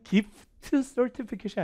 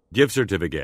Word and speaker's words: gift certificate: 되게 빠르게 발음할 텐데 특히 이 끝자음 T는 거의 발음을 안 해요. 그래서 실제 발음은 gift certificate이 아니라 이 사람처럼 하셔야 돼요. certificate, 다시요. give certificate, 이렇게 되게 빠르죠.